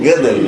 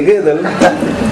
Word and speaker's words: Gödel: ¿Saben cómo se pronuncia eso? Gödel, no sé, bueno, yo digo Gödel porque tiene una O metida ahí, pero algunos dicen Gödel, no sé, sabrán de dónde la sacan.